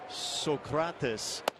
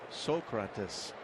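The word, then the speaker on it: Sócrates: I'm assuming that's Socrates in Spanish, or is that an accent on the first syllable? Socrates.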